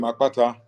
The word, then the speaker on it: Akpata: with a K now the eura version of that name is spelled a p a t a the b spell their version of the name AK k p a t a because in the B alphabet you have what they call expletives so the expletive is in my name but do you don't